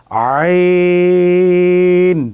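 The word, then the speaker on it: ع: আইন খেয়াল রাখতে হবে, আইন এটা গলা থেকে উচ্চারণ হবে, কখনো যেন শক্ত না হয়ে যায়, আইন এরকম যেন না আসে, আইন আইন আইন।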